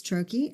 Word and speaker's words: troche: That's a troche. Done. End of podcast. That's it. And it is spelled Troche. So we've heard troche and but it's troche is how you pronounce it, and Troche if you're listening and